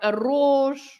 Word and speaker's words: arroz: with double R, like arroz. Arroz, yes. See? Arroz, yeah. So when you have an R at the beginning, or when you have a double R, then you should pronounce with this vibration, r.